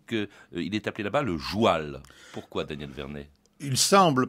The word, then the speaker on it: joual: On dit le joual, pas le comme cheval. Le cheval. Voilà, le joual.